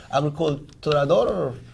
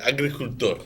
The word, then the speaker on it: agricultor: How do you say it? Agriculturador? El agricultor.